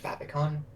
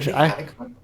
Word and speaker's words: favicon: So I always thought it was Favicon because it's like when you favorite it, Yeah, it's your favorite icon. It's definitely like favorite icon, and then fave but short.